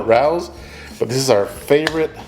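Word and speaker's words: Rao's: use some of this Rous marinara I believe that's how you say it my wife says it Rayos I call it Rous but this is our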